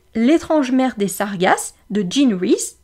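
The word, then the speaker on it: Jean Rhys: mère des sargas de Jean reys donc Jean re ça s'écrit comme Jean j e a n r r h Ys c'est un livre qu'on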